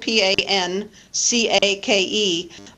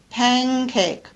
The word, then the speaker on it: pancake: I don't normally pronounce the word like that it's spelled p a n c a k e but I pronounce it with the verer consonant